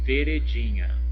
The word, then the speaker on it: veredinha: Outro exemplo que já está ali embaixo é veredinha. Veredinha. Veredinha. Olha, veredinha. Olha, a sílaba tônica é o di.